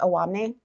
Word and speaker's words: Owamni: back for a moment to uh talk about Awamni. Am I pronouncing that correctly? Awamni.